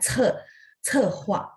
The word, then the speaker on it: 策划: Jadi C bacanya ada angin sehingga bacanya 策划.